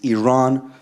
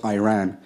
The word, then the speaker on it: Iran: Iranian people but you're pronouncing our country's name wrong our country is named Iran not Iran please once and for